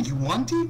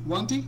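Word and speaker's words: yuan-ti: how do you say Yuanti? Wanti? What? You want I to? always You thought want it to? was One Yawn. T. Yeah, I always pronounced it Yanti. It's Like I Yankee. think it's Yanti.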